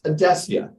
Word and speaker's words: Adecia: it reminds me that that is how we pronounce odessia and yes i think we made that word